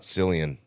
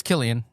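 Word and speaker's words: Cillian: amazing actor actually think about it it's not selan what' you say it's Killian telling you it it's properly pronounced Killian yeah for Oppenheimer yeah yes yeah just oh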